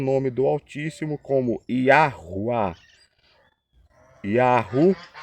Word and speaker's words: Yahuwá: Yahuwá significa eu sou o que sou e o que serei.